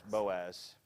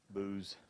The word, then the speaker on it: Boaz: added in there and boaz by the way is spelled a little different spelled like b-o-o-z but it's boaz booze it's probably not meant to be long it's probably meant to be boaz the way it's put together mm-hmm oh bit of